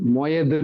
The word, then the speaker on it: Moed: படிச்சீங்கன்னா அந்த இடத்துல ஓஹெல் மொயதுன்னு இருக்கும். ஓஹெல்னா டென்ட், கூடாரம். மொயதுன்னா OHED, சாரி, OHEL, ஓஹெல் ஒரு ஸ்பேஸ் விட்டு மொயத், MOED. அதை வந்து அதை ப்ரொனவுன்ஸ் பண்ணும்போது மொயேதுன்னு ப்ரொனவுன்ஸ் பண்ணுவாங்க. அதாவது MOADE, மொயேதுன்னு ப்ரொனவுன்ஸ் பண்ணுவாங்க.